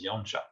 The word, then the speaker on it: Janša: des lettres slovènes, mais vous savez qu'en slovène, il y a des C et des S où il y a des accents à l'envers, un peu comme des accents circonflexes à l'envers, et on prononce ch, donc ça fait Janez Janša.